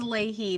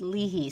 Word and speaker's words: Leahy: i well i mean the family says leahy but it's uh it's an irish name and it should be pronounced leahey so we pronounce it